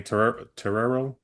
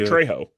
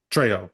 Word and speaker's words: Trejo: We saw a image of Danny Terrero, Danny, I never know how to say his name correctly, but I mean we know a dude from Dusk Till Dawn, Machete, Danny Danny Trejo. Trejo, yeah.